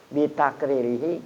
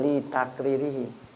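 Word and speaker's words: بتقريره: Bitakririhi, karena Nabi kita sendiri tidak melarang. Namanya hadis takriri. Jadi bitakririhi bacanya, bukan li takririhi.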